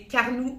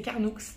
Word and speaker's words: Carnoux: Carnoux en Provence et moi au début je disais car nous en Provence mais non faut prononcer le X c'est Carnoux il y a deux